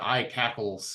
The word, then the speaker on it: ICACLS: I pronounce that I cackles in my head.